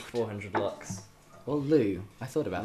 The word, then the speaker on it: Lux: Lou or Lux? Lux. I've never heard it pronounced Lou before. Lou is 400 Lou's. Is it LUX? Yeah. That's Lux then, yeah. Okay. Like look. Luxembourg. Yeah, or Luxembourg. As in luxury.